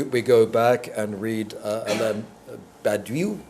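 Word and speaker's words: Badiou: are doing we we go back and read Badu Badu B I find that hard to pronounce b a d i o u uh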